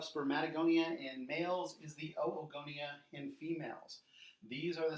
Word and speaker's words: oogonia: So remember, in Latin we pronounce every vowel, so it's not oogenesis, you pronounce both O's, so it's oogenesis, oogonia, oocytes.